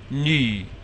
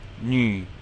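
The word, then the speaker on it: 女: And now we're just putting an N before it. Nü. So it's kind of like saying knee, like the knees on your legs. Knee, but with your lips rounded like you're about to whistle.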